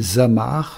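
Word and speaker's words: זמר: La racine de ce mot mise mort, c'est zimer. Zain mêmeche. Prononcé zamar, cela signifie le chanteur.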